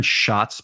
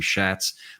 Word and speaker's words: Schatz: on the show, and it's Aaron Schatz, by the way. A lot of people pronounce his name Schatz, but he really corrected me.